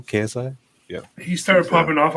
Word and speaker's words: KSI: whatever is that how you say his name KSI yeah he started popping off off a dance